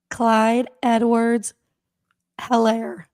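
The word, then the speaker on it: Clyde Edwards-Helaire: Go ahead and pronounce it, Mole, without your voice. Clyde Edwards Helaire.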